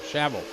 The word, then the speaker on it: Chevelle: Yeah, Chevelle, like the car. Right? Like the old school car.